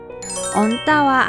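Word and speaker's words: 얹다: 겹받침, 기역, 시옷은 감사, 노잼, 버스타버스 앞자리니까 앞에 자음 기역으로 발음하죠. 언따와 안따는 어떻게 발음해야 할까요?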